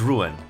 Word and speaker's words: Ruan: I always pronounce Ruan for some reason like very French kind of like like like Juan but uh it's not. It's Ruan.